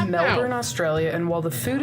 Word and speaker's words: Melbourne: And before we even start this video out, I got to point out that it is Melbourne, not Melbourne. Well, spell it like that. But everybody pronounces it Melbourne.